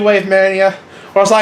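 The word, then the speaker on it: WaveMania: Is it Wave Mania or Wave-A-Mania? Because it sounds like Wave-A-Mania. It's Wave Mania, but it's just like a mess to read.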